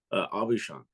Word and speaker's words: Aubuchon: How do you pronounce your last name? Aubuchon.